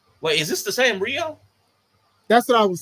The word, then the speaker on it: Rhio: Wait, is this the same Rio?